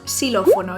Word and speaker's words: xilófono: También nos podemos encontrar la X al principio de una palabra, donde siempre suena como S, es decir, en palabras como esta decimos xilófono y no xilófono.